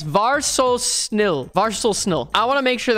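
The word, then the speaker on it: vær så snill: Just var so snill for just please. We got 3 syllables for please. Var so snill.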